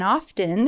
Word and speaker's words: often: bit of constructive criticism the t in often is silent i am totally guilty